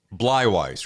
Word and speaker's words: Bleiweiss: and screw that up it's blywise right that's exactly exactly right oh thank god my